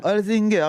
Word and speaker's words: Holzinger: Déjà, est-ce que j'ai bien Oui, prononcé? tout à fait, Merci. Mademoiselle Holzinger. C'est alors voilà, Holzinger, merci d'être avec nous.